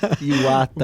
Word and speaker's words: Iwata: Então o meu meu nome pronuncia-se Iata, igual o time japonês.